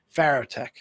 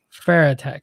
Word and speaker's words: Farotech: going on over at pharaoh tech how do you pronounce that pharaoh tech fair attack okay we'll be pronouncing the wrong the whole time ah that's okay and